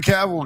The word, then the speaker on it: Cavill: It's Cavill.